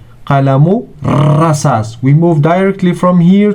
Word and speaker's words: قلم الرصاص: So we don't pronounce lam, which is before it. We don't say al-rasas. No, we say qalamu rasas.